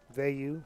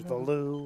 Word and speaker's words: Veyu: Veyu, often mispronounced as Valu or something of that nature.